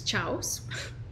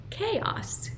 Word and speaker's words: chaos: to do yes nice Chows is chaos chaos chaos this chaos